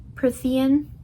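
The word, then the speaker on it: Prythian: out that the name of the place is Pthean instead of whatever I said before.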